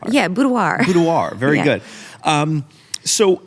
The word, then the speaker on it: boudoir: to like learn how to say that word budoir a budo am I saying it wrong no I think you're saying it right you well I'm just kind of smooth saying it budir yeah budoir budoir very good um so as I often